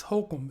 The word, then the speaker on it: Holcomb: Because there was a place outside of Lynchburg called Holcomb Rock, but it's Holcomb. It's spelled HOLCOMB, right?